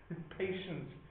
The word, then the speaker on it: patience: like how it's pronounced patience sounds like it should have a c in it or an S no C or S